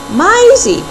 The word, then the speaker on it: Maizzy: granka what is it myy spelled like Daisy but pronounced like Maya and Isaac whose nickname is isy put together shouted Min Pearl I